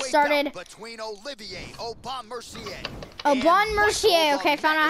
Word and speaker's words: Aubin Mercier: Aubin Mercier, okay, found out how to say it.